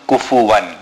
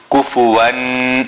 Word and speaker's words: كُفُوًا: There is no nasal sound on kufuwan. Many people read kufuwan ahad.